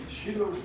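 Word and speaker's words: Shela: And then your grandfather, is it pronounced Sheila? Sheila Loss.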